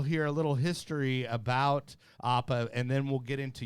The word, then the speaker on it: APAA: the spiel on what APAA is? Okay, so it's we pronounce it APA, but that's There you go. but I think a lot of people when they hear that they think it's Apple.